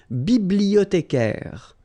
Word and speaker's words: bibliothécaire: Then un bibliothécaire. Bibliothé, remember in French the H doesn't exist, so you don't pronounce it.